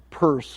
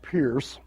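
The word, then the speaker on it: Peirce: form is the pragmatism of Charles Sanders purse pronounce that the purse not Pierce and I think I spelled him wrong there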